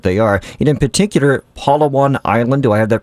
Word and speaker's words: Palawan: And in particular, Palawan Island. Do I have that pronunciation correct?